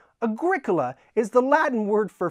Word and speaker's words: Agricola: I know, and the word cola, it's like Coke. So, Agricola. I'm going to play the game called Agricola. No, it's Agricola, and it's kind of